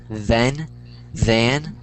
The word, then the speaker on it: then: So then, like I said, the th is always gonna be thethe, then there.